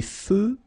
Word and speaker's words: feux: Des feux de circulation. So here, final X not pronounced.